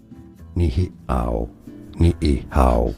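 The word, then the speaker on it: Niʻihau: is pronounced as locally nihow. Sorry. Nihow. So you have to break up the E sound, right?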